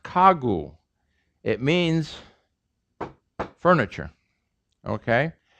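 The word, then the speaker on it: 가구: the same letter but as you pronounce it it's voiceless initially it's voiced so it's pronounced ka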